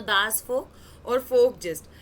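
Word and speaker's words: Volk: दास फोक कुछ नहीं है, देखो ये हम जर्मनी में ना, आपको बता दूं कि वी को ना फ बोला जाता है, the pronunciation of वी इज F over है, तो दास फोक यूज किया गया।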